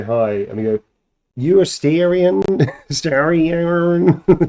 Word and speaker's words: Astarion: I would Clearly you pronounce don't it know. Baldarian. You're the Baldarians, you? Astarion the Baldarian.